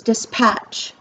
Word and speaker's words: dispatch: the next word is dispatch so again i say patch harder than the dis so that is the stressed syllable the more they listen